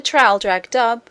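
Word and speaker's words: Traldragdubh: It contained a warrant for conducting me and my retinue to Traldragdub, or Trildrogdrib, for it is pronounced both ways as near as I can remember, by a party of 10 horse.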